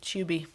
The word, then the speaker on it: Tubi: We don't pronounce tube like you do. We say it like chew with Chew. a B at the end. Yeah, Tubi.